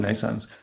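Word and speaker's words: NNAISENSE: Um we called it nense pronounced like naance um like like like birth but written in a different way spelled in a different way.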